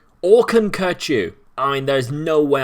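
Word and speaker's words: Kökçü: man i call him koku uh apparently that's not how you say it he says the o with the two dots above is pronounced like the u in burger uh you could just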